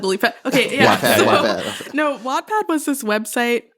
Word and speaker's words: Wattpad: Wattpad. Like as in the measure of energy? Like no. Or what? Like as in, or whatever. Well, it is spelled W-A-T-T.